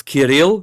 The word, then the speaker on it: Kiril: It's Kil. Kiril, you put the pronunciation on the second syllable, not the first. It's Kil.